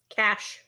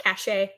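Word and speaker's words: cache: Cash. That word is cash, not cashache.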